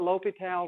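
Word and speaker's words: L'Hôpital: explain to me what Lo's rule says. Yes, it's it kind of looks like hospital, but it the correct French pronunciation is low.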